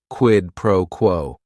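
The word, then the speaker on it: quid pro quo: It is three words. Each word is only one syllable. And if you're saying it together, the stress is kind of on that first word and that last word quidd proquo.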